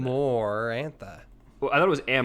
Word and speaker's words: Amarantha: Amarantha does not have the sound more in it. Amarantha.